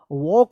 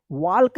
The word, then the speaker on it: walk: कि जो है ना इसका सही उच्चारण जो है ना वॉक होता है, वॉक, वाल्क नहीं होता है, वॉक, WALK, वॉक।